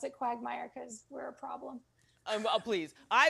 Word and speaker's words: QWGmire: And so we pronounce it QWGmire because we're a problem.